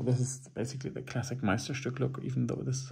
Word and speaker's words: Meisterstück: And the pronunciation is Meisterstück. I can say that because I am native to that language.